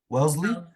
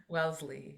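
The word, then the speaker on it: Wellesley: Welssley. Welssley.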